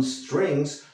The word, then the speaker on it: strings: Fíjate que digo strings, no strings. Sí, porque aquí no hay la E fantasma. No la puedes pronunciar.